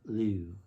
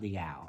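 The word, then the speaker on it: L'Eau: L-E-A-U. Liu. I think that's how you pronounce that. It's not Liao. I was saying Liao, and I think it's Liu.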